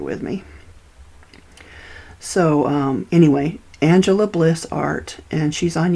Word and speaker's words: Angelia: family pronounces it and it her name's Angel Angela Bliss but you're going to spell it a n g e l i a